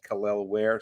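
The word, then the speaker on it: Kel'el Ware: wear by the way he's clarified now he's the pronunciation khle wear so that's our top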